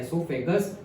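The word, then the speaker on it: oesophagus: ओ silent है, esophagus।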